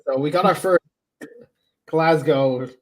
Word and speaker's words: Glasgow: you to come to glas Scotland yeah well we'll teach you how to pronounce it s Punk we'll teach you how to pronounce it you you don't pronounce the W Punk when we're saying